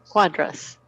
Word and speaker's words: cuadras: Cuadras. Eso, Tiffany. Abre un poquito más la A, la segunda A.